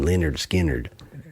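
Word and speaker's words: Lynyrd Skynyrd: teacher named Leonard Skinner they pronounce them Leonard skinnard uh I I only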